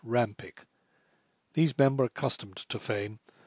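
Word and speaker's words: Pyke: voice abrahan Heracles and Jos Rome Pike pronounced Ram pick these member accustomed to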